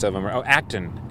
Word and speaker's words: Acton: names of them oh Acton it's it's it looks like it's spelled action but it's with without the eye it's act o n they make a a